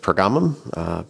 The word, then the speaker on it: Pergamum: Sometimes it's pronounced Pergamum. Pergamum is the more common pronunciation, and I'll try and stick with that, although I may slip